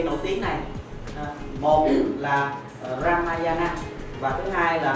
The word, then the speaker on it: Ramayana: Một là Ramayana và thứ hai là Mahabharata. Chúng ta nên phát âm cho nó chuẩn ở chỗ này.